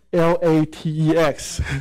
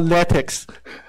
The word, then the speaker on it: LaTeX: the conference is that how to pronounce L-A-T-E-X. So the point, so it's actually spelled LaTeX. It's not LaTeX, definitely not LaTeX. So LaTeX. So I think LaTeX is from the from Latin, so you have to spell it like LaTeX.